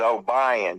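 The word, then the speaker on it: Obion: And it's O-B-I-O-N is O'Brien, because you live in the South. It's pronounced that way.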